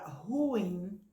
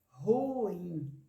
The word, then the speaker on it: ruim: Ah entendeu Oi e a palavra ruim quantos emissões de voz ruim duas emissões de voz e não uma com muita gente a